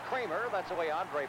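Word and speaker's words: Creamer: C R E A M E R pronounced Kramer.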